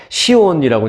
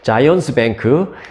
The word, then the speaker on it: Zions: 뱅크 이것을 비롯해서 자이언스 이제 한국에서는 시온이라고 발음을 하죠 근데 이제 영어로 하면 이제 자이언스입니다 저는 자이언스라고 발음을 할게요네 자이언스 뱅크 그리고 웨스턴 얼라이언스 뱅크